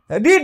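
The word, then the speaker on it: read: রিড রিড রিড হ্যাঁ স্পেলিংটা একই বলার সময় একটু আলাদা বলি রিড এটাকে বলি রেড এটা রেড এতেই বোঝানো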